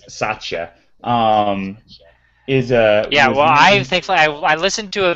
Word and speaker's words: Satya: Because it's Satya. Thankfully I listened to a video when someone else said it. I went, oh, okay. Because I kept thinking like Satya.